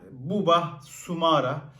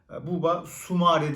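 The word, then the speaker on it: Boubakary Soumaré: Yeni isim lister city'den buba sumara buba sumare diyebiliriz Aslında isminin doğru telaffuzu 24 yaşında seneger'ı Fransız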